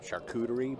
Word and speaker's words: charcuterie: We'll get the, I always mispronounce it, charcuterie board. Is that right? You did great.